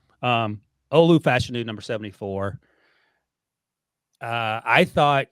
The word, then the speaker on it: Olu Fashanu: the summer and uh number 74 left tackle Olu fashion I found out is how he pronounced his name called the Joel Clap by